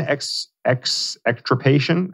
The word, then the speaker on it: extirpation: 4, based on the currently available evidence, quote, encouraging mastectomies, ovarectomies, uterine extirpation, I think is how you pronounce that word. Yes, that's it.